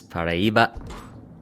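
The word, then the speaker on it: Paraíba: It is Pariba. 263 points to start us off. Good pronunciation there.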